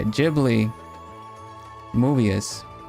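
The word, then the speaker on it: Ghibli: Jibli movie is how we talk.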